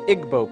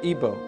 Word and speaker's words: Igbo: in Nigeria you have the Igbo people or ebo pronounced either way there's 40 million of